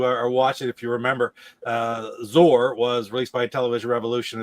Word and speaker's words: Zor: So officially, according Zor. to Paul and Ian, Yeah. the original authors, it should be said Zor. It should be said Zor.